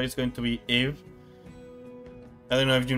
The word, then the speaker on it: Eve: Eve's name may be a variation of Eve, as Ibu, Eve's name in Romaji, is the Japanese pronunciation of the name Eve. So it's Eve, not IV.